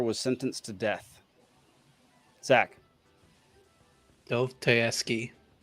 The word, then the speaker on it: Dostoevsky: And it's pronounced Dostoevsky, just so everybody knows.